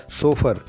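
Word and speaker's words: chauffeur: सोफर भी कहते हैं इसे सही से उच्चारित करें सोफर इसका सही उच्चारण है सही प्रोनंसिएशन है 23 क्वेश्चन इज ननु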